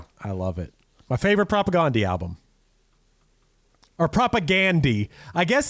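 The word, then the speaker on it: Propagandhi: They said that they they pronounce it propagandi.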